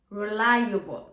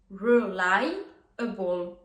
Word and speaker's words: reliable: On commence tout de suite avec le premier adjectif qui est l'adjectif reliable. Donc là, attention à la prononciation.